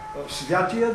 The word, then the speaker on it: Светия: Святия дух или Светия дух? Светия дух. Според ударението. Според, е или то е според ударението, но в български език си има граматична, как се казвате, норма.